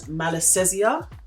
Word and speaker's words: Malassezia: year's them try and get the name right pronounce it properly it's called malassezia I think that's how you pronounce it now